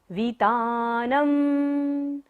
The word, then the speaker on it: वितानम्: न के ऊपर बिंदी है, थर्ड लाइन का लास्ट अक्षर है ये हमारा, तो इसका बिंदी का उच्चारण यहाँ पर क्या होगा? म। वितानम। बिंबम, ब के ऊपर बिंदी और बाद में क्या है?